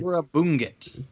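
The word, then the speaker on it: Negură Bunget: Uh, somebody correct my pronunciation here. Nura Bunget Bungit. Nura Bongut.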